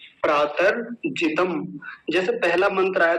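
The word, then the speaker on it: प्रातर्जितम्: प्रातर्जितम, प्रातर्जितम, जैसे पहला मंत्र आया था तो उसमें प्रातरग्निम आया था, प्रातरग्निम। ऐसे ही आज पहला ही शब्द क्या है, प्रातर्जितम।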